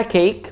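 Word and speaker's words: cake: دي اللي اسمها كيك بص على حرف الاي بص هولك لون مختلف الاي واي لما تلاقي الاي كده حرف كونسنت ساكن يعني وبعد كده حرف الاي بنطقها برض كده اي اي فالكلمه دي اسمها كيك مش كيك لا كي اي كيك كيك زي بيك وتيك وليك وهكذا بص كلمه يسلم بالايد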